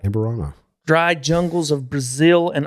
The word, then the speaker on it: Amburano: Amburano.